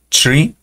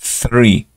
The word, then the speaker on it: three: eso ayuda mucho entonces este es three y aquí estoy colocando árbol el cual no es la misma pronunciación es tre tre contra three entonces este es el correcto los demás Eh no